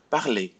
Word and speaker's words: parler: So we will not pronounce the R if you have a verb ending in ER. So repeat after me. Parler, regarder, inviter, jouer, danser, écouter, aller, dîner.